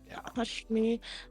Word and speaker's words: Hashmi: Hash Hashmi was the last name. Okay. Yeah, I think it's spelled H A H M I. Hush me.